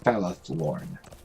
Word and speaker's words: Falathlorn: Falathlorn. Some elven words are a little tricky to pronounce.